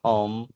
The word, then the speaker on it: home: A gente até fecha a boca porque a última letra, o último som é produzido pela letra M.